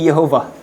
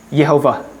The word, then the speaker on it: Yehovah: hefaf itu dikasih harakat jadi bacanya jadi Yehova. Yehovah gitu. Sementara pembacaan yang apa namanya ya? Ada orang Kristen yang mulai menghidupkan kembali pembacaannya itu bukan Yehova tapi Yahwe.